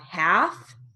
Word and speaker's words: half: Now, moving on to silent L words with sentences. So we have half, palm, talk, psalm, walk, folk.